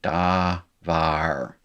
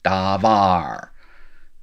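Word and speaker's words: דבר: spelled with no termination da var the accent is here davar sylabified it is uh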